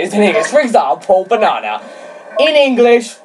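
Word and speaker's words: banane: For example, banana.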